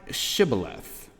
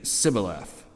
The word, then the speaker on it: shibboleth: they said unto him say now shibboleth and he would say sibyllath for he could not frame to pronounce it right then they took